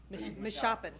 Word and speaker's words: Meshoppen: Now we have our first Pennsylvania farmer, Gerald Carlin with Carlin Farms, and I'm not going to pronounce Meshoppen? Meshoppen.